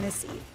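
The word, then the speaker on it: Misi: After the success of her first solo venture, Lilia, an Italian restaurant in Brooklyn, she recently opened Missy, pronounced like her name, but spelled differently.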